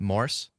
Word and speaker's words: Morse: Um, is your last name just pronounced Morse? Yep, just like Morse code.